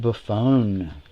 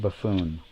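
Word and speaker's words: Buffone: Doug Buffon. Not Buffoon.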